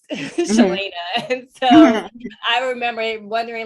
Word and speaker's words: Cheylaina: And so I remember even with my name, all my life has been, you know, mispronounced, Cheylaina.